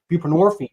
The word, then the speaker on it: buprenorphine: methadon we give narcotic addicts buprenorphine which rhymes with morphine Suboxone um and the